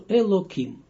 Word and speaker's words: Elokim: And also my teacher learned me this, Ari, and also the names of angels, we don't pronounce them fully, only the first two letters. And that's why we say also Elokim.